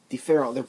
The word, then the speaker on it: différence: Différence. They're both pronounced the same. They're both pronounced différence.